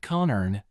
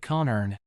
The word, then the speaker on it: คนอื่น: คนอื่น Say it like con earn. Think of an ice cream cone and earn money, but make it con earn.